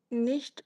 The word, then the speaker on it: nicht: Ist nicht or nicht, I mean the way you pronounce it? Oh, nicht. It's like a sh sound.